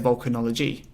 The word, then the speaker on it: VolcaKnowledge: So that's Volk, and then the word knowledge. Interesting there. If you really pronounce the E on the end of VolcaKnowledge, it says volcanology.